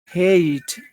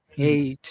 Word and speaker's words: hate: number one hey hey what are the two sounds that you hear okay A a it's two sounds It's A and E A A and E A can you say number one yes is a hate a A plus e hate that's better hate hate hate can you